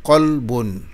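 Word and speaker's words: قلبٌ: Vous avez Qaf ici, avec, que nous transcrivons avec Q, et Kaf avec K. Et si nous revenons à nos exemples, nous avons pris un exemple ici avec, qui s'écrit avec la lettre Qaf, donc la première lettre. Par exemple, Qalbun. Qalbun, vous voyez ici la transcription Qalbun, ça veut dire cœur. Et vous avez aussi Kalbun, Kalbun, Kalbun avec Kaf, qui veut dire chien.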